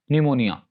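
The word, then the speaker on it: pneumonia: पी के बारे में रूल्स ये हैं कि P is not pronounced at the beginning of words using the combination PS, PT और PN। यानी अगर किसी वर्ड के शुरू में PS, PT या PN आ जाए तो वहां पर P will be silent, P को प्रोनाउंस नहीं किया जाएगा।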